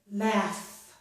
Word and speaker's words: laugh: G plus H can make the F sound, as in the word laugh. Laugh. This GH does not make a G sound.